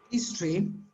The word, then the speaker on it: history: as i said history that by the way is pronounced history here you have the the letter o i mean the sound of o disappears it's history i mean almost disappears it's a very so short so soft that it's better to say